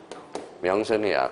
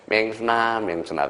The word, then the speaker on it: 명순: 명순이야. 그래서 맨날 김영삼이가 발음이 안 돼서 맹순아 그래서 그러면 그 영부인이 뭐라 그래? 나는 맹순이가 아니라 명순이야.